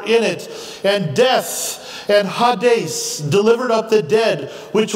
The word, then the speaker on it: Hades: just a clarify see we usually just say Hades but the the true pronunciation is more Hades and it literally means